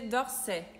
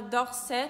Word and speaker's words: d'Orsay: AY em francês é o mesmo que AI, é o som de E. E dependendo da região da França, esse som de AI, que é E, fica mais fechado, fica E.